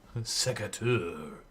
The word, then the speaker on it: secateur: We're welcoming our subscribers, such as Secateur. Ashton arrives in the chat and immediately, first thing somebody says to him is get back to work. That's not cool. Secateur has subscribed. It's Secretary. not sector. Secateur.